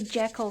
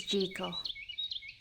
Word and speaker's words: Jekyll: I want to say Jackal so bad, but I know the proper pronunciation is gal.